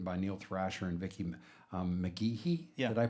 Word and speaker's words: McGehee: Country Feels, written by Neil Thrasher and Vicky McGehee. Did I pronounce that correctly?